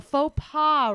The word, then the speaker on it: faux pas: A faux pas, right? But Mhm. it's spelled with an X at the end.